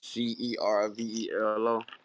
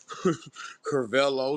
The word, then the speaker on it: Cervelo: bike it's it's called the um Cervelo Cervelo c-e-r-v-e-l-o hey how you pronounce you say wet Brody how you pronounce it I just said carvelo Cervelo man I could have I could have